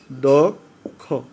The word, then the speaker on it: দক্ষ: পরে যদি ক্ষিয় থাকে, সরয়ের পরে ক্ষিয় থাকলে এই সরয়র উচ্চারণ ওয়ের মতো হবে, তাহলে দেখো এটা ক্ষিয় তাহলে দক্ষ, তাহলে কী হবে দক্ষ, এখানে কিন্তু লীন বর্ণ